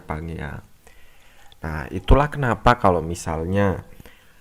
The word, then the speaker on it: Pangea: Ini bacanya Pangea.